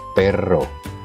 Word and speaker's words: perro: Kamu harus mengucapkannya sedikit lebih panjang dari R biasa. Contohnya perro, carretera, dan sebagainya.